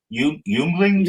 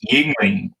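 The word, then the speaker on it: Yuengling: How did you pronounce that? Yunglings? Yuglings. No. It's Yingling.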